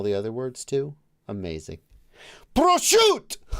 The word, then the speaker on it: prosciutto: Prosciutto. Prosciutto.